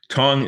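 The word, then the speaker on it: Tang: tong dynasty so this is roughly 800 ad tongue is spelled t-a-n-g but as many of you know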